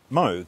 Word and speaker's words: Moog: By the way, Robert Moog said his name pronounced Moog, despite the 00G rather than 007, of course.